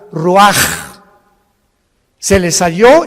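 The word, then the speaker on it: רוח: Y exhaló Isaac el roach, así como suena. Se pronuncia la ch en hebreo como J. Roaj, se le salló y se traduce espíritu.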